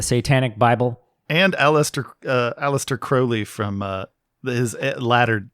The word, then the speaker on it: Crowley: post real quick that his name is crowley it rhymes with holy holy crowley it isn't crowley that rhymes with uh fowley that was a gift